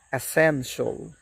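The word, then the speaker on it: essential: আমরা বলি অ্যাসেনশিয়াল। Absolutely this is wrong. এর সঠিক উচ্চারণ হবে অ্যাসেনশিয়াল। অ্যাসেনশিয়াল।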